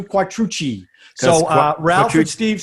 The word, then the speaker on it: Quattrucci: Okay, and now obviously you hear the difference in the way we pronounce our last name. Just a little background. Our entire life it was Quattrucci. Wrong. And then somehow, I think after we saw The Godfather, we changed it to Quattrucci.